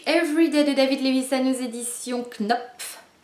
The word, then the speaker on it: Knopf: Donc voilà, j'ai lu Everyday de David Levisa édition Knopf K N O P F Knop bien dur à prononcer à Knop.